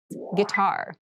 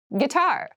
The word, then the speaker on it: guitar: clothing casual Jew clothing guitar guitar guar this word has kind of an interesting spelling it starts with GUI but we pronounce this as G so a guitar is